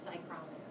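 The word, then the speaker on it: psychrometer: they get that the you pronounce the pH y that pyrometer that's how you pronounce that um so sling pyrometers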